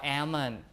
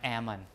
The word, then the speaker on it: almond: forehead without the H or almond uh without the L. But they see L written down. So they think that it should be pronounced. So they say almon instead of ammon like that like salmon ammon talk like that the l is dropped right but some people think